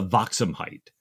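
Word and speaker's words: Waakzaamheid: that they've run into a dutch 74 the vauxham height did i say that right ian you did good pronunciation well done i i listened to patrick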